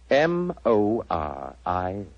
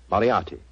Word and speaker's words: Moriarty: I'm afraid I'll have to begin calling it the way it looks. M-O-R-I-A-R-T-Y. Moriarty.